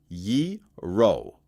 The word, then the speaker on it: gyro: Gyro is said yee-ro.